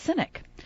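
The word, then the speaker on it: CYNK: of c ynk and it's pronounced cynic and it's cynic technology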